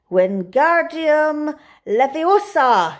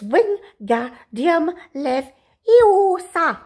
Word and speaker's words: Wingardium Leviosa: "Wingardium Leviosa!" he shouted, waving his long arms like a windmill. "You are saying it wrong," Harry heard Hermione snap. "It's Wingardium Leviosa. Make the gar nice and long."